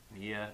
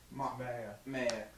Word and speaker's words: Maya: Mia. Is it Mia or Maya? Maya. Okay, Maya. So it's neither of the things that I said it was.